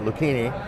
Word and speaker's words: Lucchini: Bill Lucchini, he is and I said it right, Lucchini. I told you I butcher these.